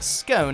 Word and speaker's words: scone: the republic of ireland you'll also hear scone scone-like tone and then some butter